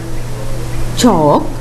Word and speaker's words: chalk: Talk, chalk, walk, fork. Now you can read the words after me. Again, talk, chalk, walk, fork. In these words, the letter L is silent.